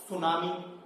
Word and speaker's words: tsunami: जैसे कि आपने सुना होगा सुनामी, सुनामी की स्पेलिंग किससे है, TSUNAMI, सुनामी, तो उसी तरह से ये सीसी मक्खी।